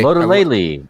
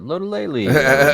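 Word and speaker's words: Lotulelei: Star Latulele. Lodolele. I can't stand it when sports announcers do that. Lodolele. It is.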